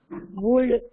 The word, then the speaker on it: would: Descriptions and Narrative flourishes would hold Iswaran in thrall. Would not better. It's a would. L should be silent away. WOULD. L is silent.